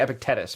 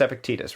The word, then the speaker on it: Epictetus: I was going to say Epictetus, but I think it's Epictetus, right?